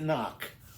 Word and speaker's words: knock: And look at knock. When you knock on the door, the word knock starts sounds like it starts with an N.